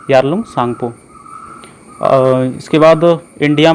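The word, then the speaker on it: Tsangpo: टी इसमें silent रहता है, तो टी सांगपो नहीं बोलते, सांगपो बोलते हैं, यारलुंग सांगपो।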